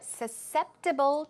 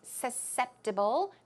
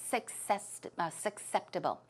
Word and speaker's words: susceptible: Now, Rachel says, when you're tired, your body's more susceptible to getting sick. The pronunciation is susceptible, not susceptible.